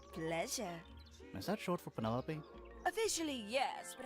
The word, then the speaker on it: Penelope: is that short for Penelope officially yes but I never can be bothered with all four syllables of it Penelope sounds a